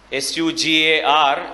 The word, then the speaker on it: sugar: or two words where we pronounce S-U as shoe. S-U-G-A-R is sugar.